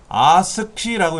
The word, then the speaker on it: ASCII: ASCII라고 읽어요.